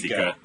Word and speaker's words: Sicha: um, Hi, I'm Choire Sicha, Sika.